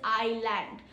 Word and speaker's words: island: In island, S is completely silent. Aankhon ka land is island.